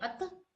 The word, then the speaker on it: अतः: अतः यह अतः और ह जो इसकी ध्वनि देता है।